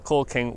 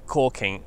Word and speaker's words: caulking: say and pronounce it it started off as call king with an l and then in some places on the west coast it i think evolved into caulking with no l just